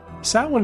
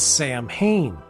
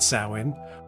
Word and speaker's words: Samhain: Samhain is spelt S-A-M-H-I-N, which has led some to incorrectly refer to it as Samhain.